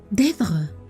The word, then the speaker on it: Deirdre: Solo una persona había pronunciado su nombre de aquel modo, con un ligero acento en la primera sílaba que la convertía en una caricia.